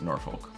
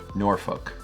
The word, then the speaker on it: Norfolk: Also, the folks that are from Virginia really hate it when I pronounce it as Norfolk. They really want it to be Norfolk. Norfolk.